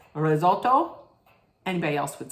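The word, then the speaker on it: risotto: with listen they had they say it R Roto but as an Italian my mother if I didn't say it like this my mother would say what it's it's Roto it's not risoto it's Roto right listen I'm not all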